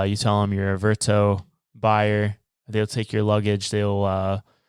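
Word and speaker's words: Vertoe: a website service called verto v r t o e I think that's how you pronounce it absolutely where uh a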